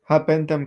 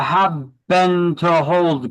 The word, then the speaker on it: habendum: Habendum clause. 2 is E. It is the habendum clause. I like to mispronounce it to remember it. It is the have been to hold clause.